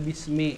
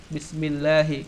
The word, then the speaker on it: Bismillahirrahmanirrahim: Nah, itu dibacanya bismi. Kenapa dibaca bismi? Nah, itu ada dijelaskan di dalam ilmu nahwu. Bismillahi, kenapa enggak bismillah, kenapa enggak bismillahu?